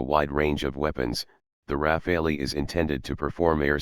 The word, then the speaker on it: Rafale: The Dassault Rafale, French pronunciation, Rafale, literally meaning gust of wind, 11 and burst